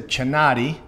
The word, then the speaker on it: Chinatti: Excited to be joined here by Chinatti.